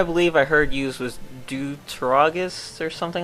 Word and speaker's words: Deuteragonist: A term I believe I heard used was Deuteragonist or something like that. It's pronounced like antagonist or protagonist, and it essentially means another character that shares the main role.